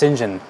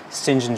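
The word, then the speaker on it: St John: sinjin john rivers uh that's pronounced shinjin an unusual pronunciation but it is shinjin john he's described as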